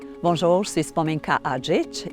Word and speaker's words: Adžić: Bonjour, je suis Spomenka Adžić. Ici, ça se prononce Adzik.